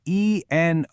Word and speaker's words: enough: Just look at the word E-N-O-U-G-H. I mean, how would you ever guess that it's pronounced enough?